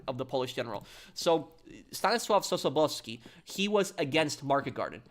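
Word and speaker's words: Stanisław Sosabowski: Ostanis Sobski. That's how you pronounce it in Polish. That was the name of of the Polish general. So Stanosav Soowski, he was against Market Garden.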